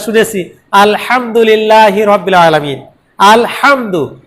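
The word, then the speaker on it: الحمد: আলহামদু, এই হাটা যদি গোল হা দিয়ে পড়ি আলহামদু, তখন অর্থ কি হবে?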